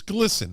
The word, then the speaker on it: GLSEN: you take down the uh glisson Gilson it's glisten right that's what it's called so glsen is a a group it's pronounced listen and it's the uh gay lesbian